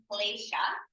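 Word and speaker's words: kleśa: So now we're introducing the term klesha, and I'll use the normal, the most used diacritical mark and just putting an accent here, which means that this is pronounced sh.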